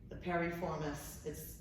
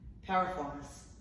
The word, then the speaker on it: piriformis: My dad calls it the piriformis. That's not how you say it. Piriformis.